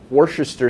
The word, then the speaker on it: Worcestershire: Worcestershire sauce. Boom. Correct pronunciation, by the way.